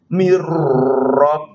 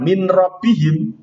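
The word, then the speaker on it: مِن رَّبِّهِمْ: yang ke-3 dan ke-4 nun sukun bertemu dengan rok maka bacanya telah idgham mirrobbihim bukan min rabbihim itu jelas tetapi disini bacaannya adalah idgham maka setelah notnya nggak berhak ke huruf rok Miro pihim begitu kemudian yang lam idgham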